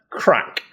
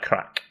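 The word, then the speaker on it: craic: Then we have crack. And this is, to help you, it's derived from a similar word that's pronounced the same in Irish, but is spelled differently. So it's the right crack.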